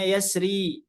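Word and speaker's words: يسر: yang kita pilih ya yang kita pilih adalah yang ditipiskan yasr yasr ditipiskan nuzur juga di ditipiskan ya Meskipun boleh ya tebal atau tipis ya ini di surah alfajr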